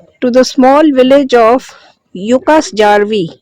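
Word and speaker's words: Jukkasjärvi: The river winds through ancient mountains and deep forests to the small village of Yukas Jarvi. Yucasarvi Jay is silent here.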